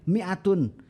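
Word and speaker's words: مائة: Minho itu sama ya jadi ditambahkan Alif ya supaya jadi Ali Meme ya kemudian Alif kemudian Hamzah kemudian tak marbutoh kita membacanya pendek Miatun Miatun artinya 100 nah disitu ya tidak ada fungsinya salah satu fungsinya tidak ada fungsi bacaannya salah satu fungsinya adalah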